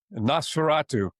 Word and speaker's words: Nosferatu: uh Alpha, how do you pronounce this uh Nosferatu? Nosferatu.